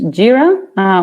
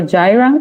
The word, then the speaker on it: Jira: projects mm-hmm so as a company we use JIRA or Jireh depending on how people pronounce it so it's a really nice tool